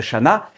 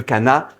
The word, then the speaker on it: canna: Oui, on dit Cana. Je sais bien que tout le monde les connaît sous le nom de Chana, mais la prononciation, il y en a une, elle existe, c'est Cana.